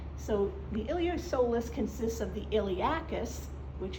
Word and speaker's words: iliopsoas: as one called the iliopsoas okay where the P is silent in that so the iliopsoas consists of the iliacus